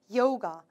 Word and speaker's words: yoga: yoga. O 발음 넣어서 발음해 볼게요. yoga라고 얘기를 하시면 되겠습니다.